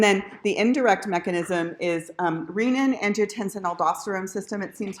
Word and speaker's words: renin: It's not renin because there is a hormone called renin that comes from the gut. I mispronounced it for years before somebody told me, you're saying the wrong one. So renin, as in renal, right?